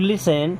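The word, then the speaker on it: listen: वाई डू यू लिसन टू the world, अब यहाँ पे टी होता है साइलेंट, ओके, इसे लिसन पढ़ते हैं।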